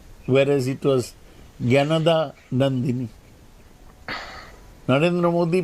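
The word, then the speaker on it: Jnanadanandini: Narendra Modi spelled out, pronounced the name of the wife of Rabindranath's elder brother Satyendranath as Gyanandini, whereas it was Gyanada Nandini. Narendra Modi pronounced Rabindranath's famous poem called Prarthana, Chitto Jetha Bhoy Shunno Uchcho Jetha Shir, all wrongly.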